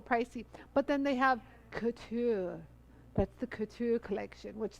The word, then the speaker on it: couture: You gotta say it like your nose is, couture.